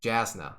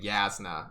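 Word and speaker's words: Jasnah: shaolin the whole time i was also calling yasna jasna the whole time because it's spelled j-a-s-n-a-h and i know like in hebrew the j makes the y sound well apparently in a lefty that's how it works too so i was saying the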